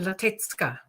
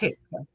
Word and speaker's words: Latecka: And the C is pronounced T. So Latecka. Latecka. Is that correct? Latecka.